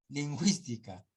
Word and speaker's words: lingüística: yo no es cierto solo cuando estés a diéresis recién se va a hablar se va a pronunciar la u where we belong cigüeña lingüística acá no acá es